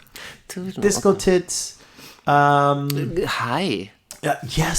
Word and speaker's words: Tove Lo: And she pronounces Tove Lo. Oh, okay. And so I pronounce her I know name her. Tove Lo. Tove Lo, Disco okay.